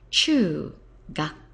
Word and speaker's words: 中学: Che gak CH gak Che is quite easy to remember because at middle schools or another word for a middle school is a junior high school and middle schools they often like to chew chewing them it's mostly against the rules but that doesn't stop people Chew Chew Middle School here's the character